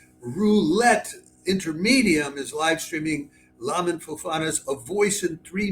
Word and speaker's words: Lamin: to call him, then we have Lamin, or Lamin, but I would pronounce it Lamin, I think, Fofana.